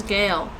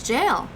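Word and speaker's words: gaol: yeah but i think i thought i heard them pronounce it as gayle yeah it's not the first time i've seen that spelling it isn't actually probably still exists in the old statutes in ontario okay it's jail oh hi st live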